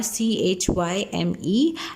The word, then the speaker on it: chyme: Its spellings are CHYME and it is pronounced as chyme.